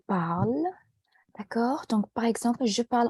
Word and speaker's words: parle: La finale n'est pas prononcée. Donc, ce n'est pas je parlais, c'est je parle.